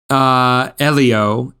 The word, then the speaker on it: Elio: How should I pronounce that, Eddie? Elio, and it's not Disney Animation.